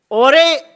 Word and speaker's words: Jorge: रहे हैं, इसको टीम ओरे, शायद इसे प्रोनाउंस किया जाता है JORGE, I think in the dialect there it's called ओरे।